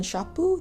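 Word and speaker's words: ショップ: For those of you who aren't familiar with Daiso, they're like 100 yen shoppu, that's how you say it in Japanese, like 100 yen shops.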